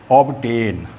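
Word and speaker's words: obtain: ऑब्टेन जो है उसमें देखो हम टी से पहले बी को बोल रहे हैं, ऑब्टेन। इसमें पूरा बी और टी दोनों पढ़े जाते हैं।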